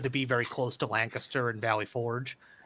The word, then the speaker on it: Lancaster: be very close to Lancaster and Valley Forge. They pronounce it as Lancaster, not Lancaster, like you should.